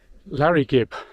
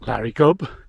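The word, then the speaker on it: Llareggub: you know that's uh Larry Gibb basically means uh it should be pronounced Larry gub because the Y in Welsh is an uh sound and of course it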